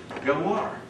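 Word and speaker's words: Ghawar: Gawar. All right. Gawar. All right. G-H. How do you pronounce it?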